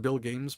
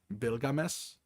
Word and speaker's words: Bilgames: Uh, I pronounce it Bill Games because it looks like Bills, but um, the correct pronunciation for it would be Bilgames.